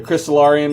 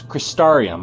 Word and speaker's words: Crystarium: The Crystallarium is max. Oh, that's actually not how you pronounce it. It's Crystarium. I always called it a Crystallarium.